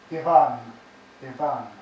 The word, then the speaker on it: Ivan: name over and over two syllables the second stressed like the uneven steps of advance yvonne ivan so that's the opening